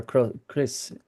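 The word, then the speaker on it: crios: I would pronounce it or Chris. What is Chris? Yeah, Chris. Yeah, What did I say? cross, Chris. cross. Cross. Oh, Chris. Cross is a cross. Yeah, Chris, well done.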